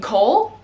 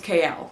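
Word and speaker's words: Chaol: Like, how are you going to How are you going to do that? His name is like Cole.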